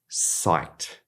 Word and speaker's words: psyched: saying, I've heard my friends saying, and that's psyched.